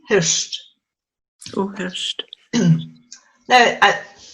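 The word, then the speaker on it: Hiort: Hurst is another place, which is St Kilda, the Gaelic for St Kilda. H-I-O-R-T, Hurst.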